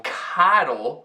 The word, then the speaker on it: cuddle: Mas no verbo cuddle, o O tem a pronúncia de A, mais uma vez, e não O, mesmo tendo um Magic E no fim.